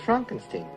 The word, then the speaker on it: Frankenstein: frankenstein you're putting me on no it's pronounced frankenstein do you also say frodwick no frederick oh